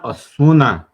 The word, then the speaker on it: Ozuna: do you want say his name brother john asuna as john asuna yeah you got it right